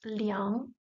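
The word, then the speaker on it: 两: Rule doesn't apply when we make this sound nasal with the G. So it's still I, A, N, yang, L, yang, which together is pronounced liang, liang. Third tone, liang, means two.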